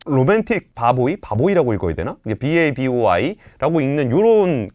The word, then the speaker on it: BABOI: 이게 소반이라는 식당과 진주, 그리고 로맨틱 바보이라고 읽어야 되나? 이게 BABOI라고 읽는 요런 그 음식점들이 좀 생겨나고 있다는 겁니다.